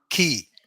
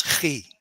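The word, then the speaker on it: כִּי: So you see there is a dagesh in the middle of the letter. right. It means that I have to pronounce a K sound. So this is Okay. ki. You see, I have to pronounce ki. I should not pronounce chi because without the dagesh, But wouldn't that be a vowel?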